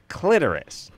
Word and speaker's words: clitoris: I was listening to the radio show, and I heard you say clitoris. It's pronounced clitoris. And I'm like, we always say clitoris.